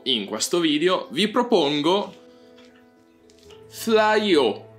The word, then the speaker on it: Fleaux: Lo so, è una pronuncia alquanto particolare, pensavo che fosse un po' più ammiccante al francese, tipo un flow, invece per come mi sono informato io si legge proprio Flyo.